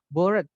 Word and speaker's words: bored: ada Boring itu membosankan bored itu bacanya board ya teman-teman kayak papan bacanya board itu bosan seperti itu confusing